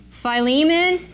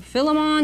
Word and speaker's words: Philemon: putting over here Philippians Philemon or Philemon there's different ways of pronouncing it and first Thessalonians